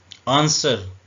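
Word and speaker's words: answer: नरम करना वाच उर्दू में ऐसे लिखेंगे घड़ी आंसर आंसर का मतलब होता जवाब देना इसमें ड साट सोर्ड डब्लू साइलेंट है उर्दू में ऐसे लिखेंगे इसका मतलब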